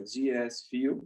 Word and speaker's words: DS Fuel: Diego dos Santos Silva PS fuel é a pronúncia em português né mas Inglês fica Dias fio eu ganhei esse nome